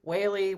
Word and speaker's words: Wehle: like the the daily whaley right exactly that's it took me a long time to figure out that's the shortcut to proper pronunciation so yes daley whaley whaley daily it rhymes so kim whaley who